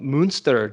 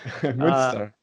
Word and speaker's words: Münster: very special guest from Münster, Germany, yeah? Yeah, hi. I'm pronouncing that wrong, huh? Yeah, you're pronouncing it almost right. Uh, Münster.